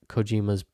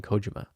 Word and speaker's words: Kojima: and arguably one of Cojima's best ever games. Why do I keep saying it wrong? It's Hideo Cojima. Cojima, but I'm saying Kojima and arguably one of Cojima's Kojima's Cojima Cojima's best ever games.